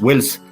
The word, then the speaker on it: Wells: parece buenísimo, Sistopath Wells, que se escribe con W e LS, ¿verdad? Así es, Wells, ya este no es como Orson Wells, ya, sino como HG Wells, el novelista británico que escribió el hombre